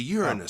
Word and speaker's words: Uranus: gonna sound off because it's either urine or anus yeah take your pick